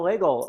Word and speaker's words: Legel: My new close personal friend and yours, Legel of the Karate Obsession and Waza Wednesdays. Right. Rhymes with bagel.